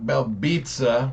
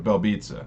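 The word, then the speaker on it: Belbiţă: Now, I want to keep pushing because this next fight, women's strawweight, we have Diana Belbitsa, which I love how you say her name like pizza, you know what I mean?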